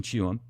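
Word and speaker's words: Tuam: I look it up, it's pronounced Chewham, according to the research that I did.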